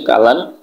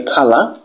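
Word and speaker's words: colour: আচ্ছা, এরপর হচ্ছে যে আমরা এটাকে সবাই বলি হচ্ছে কালার, কালার না বলে আমরা এটাকে বলতে পারি খালা, খালা, এটা হচ্ছে যে সঠিক প্রোনাউন্সিয়েশন।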